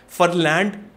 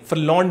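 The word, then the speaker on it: Ferland: अगर आप फ्रेंच पढ़ोगे तो फरलैंड मेंडी नहीं, फरलॉन्ड मॉन्डी करके बोला जाता है।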